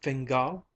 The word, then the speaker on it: Fingal: silia asked familiarly CA Fingal said the other looking up from her cup her upper lip red and moist she accented the surname on the last syllable what a perfectly lovely